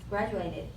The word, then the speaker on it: graduated: And someone mentioned the word graduated, but he said graduated. So the stress is in the first syllable, graduated.